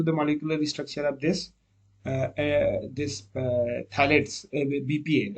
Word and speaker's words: phthalates: So this P is silent, phthalates and bisphenols.